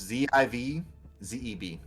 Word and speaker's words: Zivzeb: It's Z-I-V, Z-E-B. Zivzeb. Okay, that's what it is. Zivzeb. I think the idea was that we hoped that Zivzeb, would talk and be like, no.